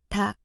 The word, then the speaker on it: 닭: 닭, If you take a close notice at the 받침, you would notice the first consonant is silent, and the second consonant is pronounced.